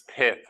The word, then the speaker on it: Pyth: so first off it's pith right that's how you pronounce it yeah I thought it was pyth for the longest time because of python but it's it's fth